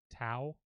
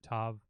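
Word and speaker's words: ת: So this letter, for example, people will sometimes pronounce that Tau with a W, like T-A-W. I pronounce it more as modern Hebrew Tav.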